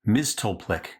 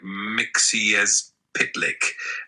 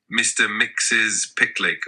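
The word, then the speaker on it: Mxyzptlk: Miztulplik cover. I've always said Miztulplik, but looking closely at it, it seems like it's Miztulplik. How do you pronounce Mr. Miztulplik? So traditionally, it's pronounced something like Mixiezpitlik, which is a bit of a mouthful.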